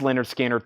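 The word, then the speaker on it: Lynyrd Skynyrd: Offspring self-title 3399 and Leonard skinnard pronounced Leonard skinnard 3699 pronounced leard skin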